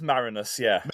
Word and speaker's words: Marinus: And it's pronounced Marinus, Marinus, yes.